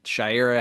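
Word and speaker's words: Shayera: Well, it's still pronounced Shaira, but it's spelled differently.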